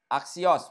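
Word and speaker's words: ἄξιος: Aksios bacanya.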